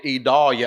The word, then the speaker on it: Idalia: Hurricane Idalia, as all of you know, and by the way, that is Vidalia without the V.